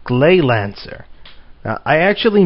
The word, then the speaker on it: Gleylancer: playing a game for the Sega Genesis called glay Lancer now I actually mispronounced it um when I did my nights of the round playthrough and said it was grey Lancer a mistake easily made now as you can